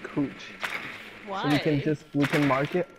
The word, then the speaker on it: Couch: in Portland, there's a street called Couch, Cooch, but the white people pronounce it Kooch.